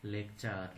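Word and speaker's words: lecture: এর পরের নিয়মটি হচ্ছে শব্দে টি থাকলে এবং টি এর পরে ইউ থাকলে টি এর উচ্চারণ চ এর মতো হয়। যেমন লেকচার, লেকচার মানে বক্তৃতা, সেঞ্চুরি মানে শতক, ফার্নিচার মানে আসবাবপত্র, স্ট্রাকচার মানে গঠন।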